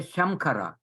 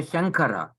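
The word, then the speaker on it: शङ्कर: when you pronounce it, this nasal is pronounced as a Kavarga nasal. Shankara. You don't say Shamkara. You say Shankara.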